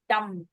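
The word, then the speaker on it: dumb: जो देखो वर्ड देखो डी यू एम बी डम इसमें बी साइलेंट है। तो बी को बोलने का तकुलफ करने की जरूरत नहीं है। डंब बहुत लगता है क्या? यार इतना मुश्किल क्यों है डंब बोलना? क्योंकि डंब में ब है ही नहीं तो मुश्किल लगता है प्रोनाउंस करना। डंब डंब that's all.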